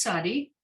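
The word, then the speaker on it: צדי: page but it's called it's sadi or as i learned it it's sadiq but i think they they now pronounce it sadi um and other than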